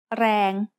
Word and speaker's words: แรง: A word using the long vowel สระแอ is แรง which means power. แรง has a low-class consonant and a live ending, so it is pronounced mid-tone.